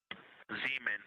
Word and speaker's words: Zeeman: Zeeman. Okay, and can you say the first letter? I may be pronouncing that wrong.